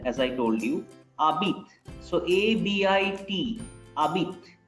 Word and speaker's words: habites: Abit is, H is silent, as I told you. Abit. So A-B-I-T. Abit. We are pronouncing only A-B-I-T. We are not pronouncing H.